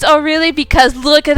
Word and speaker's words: Orly: I know it's Orilli because look at how that's spelled. It's I know it's not O'Reilly, it's Orureli.